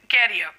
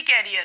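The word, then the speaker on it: career: नाउ the next question is student should work hard in order to build their कैरियर। इसका तो pronunciation ही कैरियर है। देखिए, कैरियर नहीं होता है, दैट्स करियर, ठीक है, दैट्स करियर।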